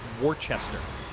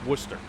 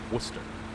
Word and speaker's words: Worcester: actually look at worcester lots of people pronounce it uh warchester so um yes i'm trying to find warchester or chess i'm trying to locate warchester please it's like no no no no no you're butchering it it's worcester worcester you find that on